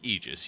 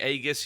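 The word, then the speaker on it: aegis: to ancient Greece the egis was the shield the Zeus carried and of course AE in Greek is pronounced e the a is silent why do you get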